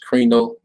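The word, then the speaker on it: κρίνω: karino all right uh in greek word is krino see how you pronounce it strong's g 2919 krino reno all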